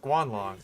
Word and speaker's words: Guanlong: And it is pronounced Guanlong.